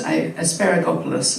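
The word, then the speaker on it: Asparagopsis: So when we're looking at some of the science that we've seen, that's now, well, how do I pronounce that again? It's asparagopolis, isn't it?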